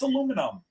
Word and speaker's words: aluminum: We took out the I and it's aluminum. Aluminum. That's right. Four syllables. You can get through the speech quicker. Aluminium. Five syllables. Come on.